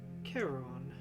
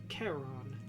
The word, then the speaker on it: Charon: The bad news is that would be the river Styx, making you Charon. How do you say it again, babe? Charon. Charon? At least I believe that's the correct pronunciation.